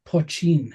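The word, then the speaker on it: poitín: so the Irish word I think it's pronounced poin maybe poin yeah uh translates to small pot and refers to a traditional Irish distilled spirit it's pronounced poin yes unaged Irish spirit that is the precursor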